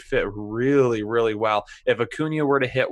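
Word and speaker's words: Acuña: They do have Ronald Acuna, for those of you who watched the last video and didn't like how I pronounced it, Acuna.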